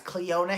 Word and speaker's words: Cleona: is cleona and Robert now Leona Hagen that's how you say it I swear to god it's cleona Hagen cleona is a fierce